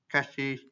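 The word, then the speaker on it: chassis: Kita butuh the S is silent, the third S is silent, oke. Cassis, berarti cassis.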